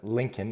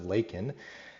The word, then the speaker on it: Laken: from all the crisis but pronounces it wrong head says Lincoln instead of Laken and then proceeds to